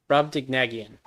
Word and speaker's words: Brobdingnagian: How do you pronounce this? Brobdingnagian.